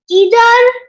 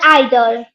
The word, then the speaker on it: either: They are either or either. There are two pronunciation. One is American and one is like American and British. Yeah, British. So either. Both pronunciation is correct.